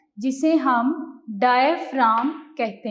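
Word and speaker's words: diaphragm: The dome shaped muscle at the bottom of our chest is called डायफ्राम। जी इसमें silent है, डायफ्राम।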